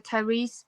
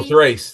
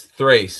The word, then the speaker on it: Thrace: Was it purple or Yeah, Pulpra and uh, Tyrese, but I'm not sure if I'm pronouncing that correctly. It's the one with white hair. These maybe or Tyrese. Oh, Thrace. Thrace.